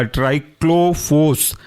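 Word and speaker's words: Triclofos: उसके अंदर रखे गए हैं पहले वह आपका ट्राइक्लो फोस ट्राइक्लो फोस ट्राइक्लो टी आर आई सी एल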